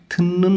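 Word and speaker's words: 듣는: কাল্ল্য সাহেব উমাক গান থিন্নুন গোসল থুত্তা ত ধ্বনির বাচ্চামের উপরে ন আছে এজন্য ত ধ্বনিটা ন উচ্চারণ করতে হবে থুন্নুন গোসল থুত্তা মানে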